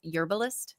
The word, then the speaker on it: Yerbalist: for the Cannabis industry he's the CEO of yurist is that how you say it y That's